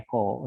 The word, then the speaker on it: echo: dulu ininya nah ah perintah Echo gitu ya Eko Eko Eko enaknya pakai lebih enak tapi sebetulnya dibacanya harusnya Eko Eko Eko di sini ya nah Hai sebetulnya